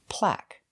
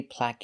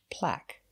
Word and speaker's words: plaque: look at the pronunciation plaque that's right the E is silent we don't say plaque or plaque it's plaque plaque sounds like black use the short ah sound like black cat plaque plaque is a